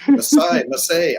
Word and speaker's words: Massae: Massae or something. Massae. Massae, awesome.